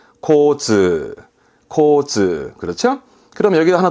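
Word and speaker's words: 交通: 단어로 볼게요 첫 번째 그렇죠 뒷글자가 통짜죠 교통입니다 발음은네 코즈 코즈 코즈 그렇죠 그럼 여기가 하나 더 붙습니다 그럼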